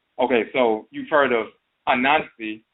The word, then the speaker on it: Anansi: In America, Anansi and Anansiwa became pronounced Aunt Nancy, like Aunt or Aunt Nancy.